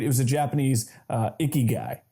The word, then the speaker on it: ikigai: It was a Japanese ikigai, right? Am I pronouncing that right? Yeah, ikigai.